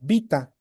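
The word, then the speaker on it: βῆτα: Por eso eh se la beta se puede pronunciar como vita, ¿no? O los que prefieren la pronunciación erasmiana, que es la que generalmente se estudia cuando estudiamos el griego, ¿no? Beta, así como está con la e en español, ¿no?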